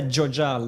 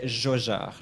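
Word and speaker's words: Jaujard: Yes, so you don't say Jojard like you would say for Jojo. You say Jojard, like a proper French J. And the D doesn't get pronounced. Most consonants at the end of French words are going to be completely silent.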